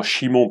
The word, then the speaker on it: Shimon: Le premier s'appelle Simon-Pierre, donc simplement si on le remettait dans les langues originales, on prononcerait simplement Shimon Petros, un nom à consonance juive, araméenne, et un autre à consonance plutôt grecque.